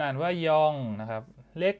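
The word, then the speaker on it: 영: ตัว เลข G เนี่ย จะ อ่าน ว่า ยอง นะ ครับ ผม ยอง นะ ตัว เลข 1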